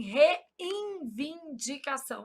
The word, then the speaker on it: reivindicação: Só para eu gravar que não existe N aqui. Qual que é o problema? A gente nasaliza esse N pronúncia. a gente fala assim, reivindicação.